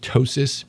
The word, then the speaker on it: ptosis: than the other or it's called ptosis p-t-o-s-i-s and um you know so ptosis should go wanted to say pee it's for the same